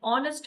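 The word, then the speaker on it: honest: अगर साइलेंट है एच एन ऑनेस्ट मैन ओ का साउंड दे रहा है जो कि वोवेल है।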